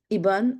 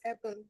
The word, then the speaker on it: Eban: Yes, Iban. Am I am I pronouncing your name correctly? Iburn. It's Eban, but it's okay. Eban, sorry, my bad.